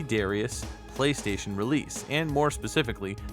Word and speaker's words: Darius: harder to hear but it sounded like darius kind of a combination of english and japanese i seem to have